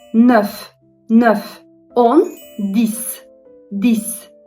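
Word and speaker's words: dix: 10 dis. Dis. Yine aynı şekilde X s gibi okundu.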